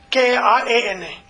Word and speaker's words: karana: How do you spell that? K-A-R-N-A? K-A-R-A-N-A. Karana. Not Karana, it's Karana.